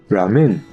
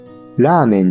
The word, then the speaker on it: ラーメン: 語に詳しくない人はラーメンの発音が少し英語っぽくなってる人が多いです。ラメンみたいな。でも確かにこれを読むとラーメンじゃなくてラメンになって